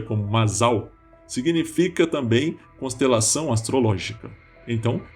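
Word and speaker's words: מזל: Em hebraico, a palavra sorte, que se pronuncia como Mazal, significa também constelação astrológica.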